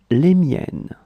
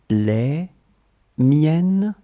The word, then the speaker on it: les miennes: So let's see how to pronounce them and what they are. Mine, les miennes, les miennes, les miennes.